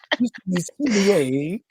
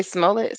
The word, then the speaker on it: Smollett: It was like Smollier. I forgot what the fuck the real pronunciation. I think it's Smollett or something. But I like the way Dave Chappelle I said. just say Smollett, Smollett, Smollett.